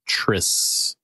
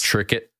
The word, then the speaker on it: Triscuit: date on there and I'm sure they put the s in it so that you pronounce it Tris because if you had a c instead of you have tricks tricket yeah yeah uhet electricity